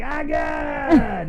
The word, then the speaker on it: Agat: Wait, before, big shout out to my family down in Agate. Right. You got to say it like Agate. You can't just say it Agate.